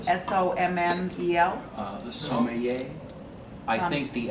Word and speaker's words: sommelier: sommelier. Sommelier. Sommelier. Hubert, can I pour some more? Sommelier, sommelier, Sommelier, right? Somebody pronounce it for me.